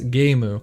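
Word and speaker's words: ゲーム: letter words in english the second is gemu the japanese pronunciation of the lone word game like many japanese terms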